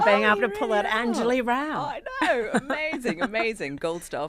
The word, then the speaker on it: Anjali Rao: I've got a British accent because of my upbringing, and apparently an unpronounceable name. It's 4 syllables. Which part? Anjali Rao.